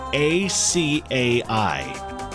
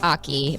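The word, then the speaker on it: açaí: It's a c a i. So I always call it aki, but I think it's like a or something, right? It's acai.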